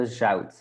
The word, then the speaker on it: zout: So we have rauw, that means raw, something raw. And the zout, the salt. So we just write it different ways, but we pronounce it the same.